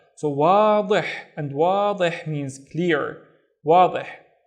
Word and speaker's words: واضح: Again, this letter is the heavier version of da. So واضح, and واضح means clear, واضح.